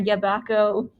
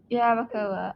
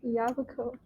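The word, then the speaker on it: Yabucoa: And made landfall near Yabaco. That's not how you say it. How do you say it? You don't have to say it. I feel like I have to say it. Okay. Yabacoa. Okay.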